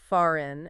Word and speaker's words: fahren: The silent H follows a pattern, often appearing after the vowels E and A. Words like fahren, to drive, pronounced fahren, and lehren, to teach, pronounced lehren, exemplify this.